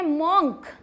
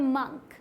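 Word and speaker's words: monk: आगे क्या है, इसे हम पढ़ देते हैं मॉन्क, लेकिन ये मॉन्क नहीं है, ये है मंक। क्या है, मंक। क्लियर।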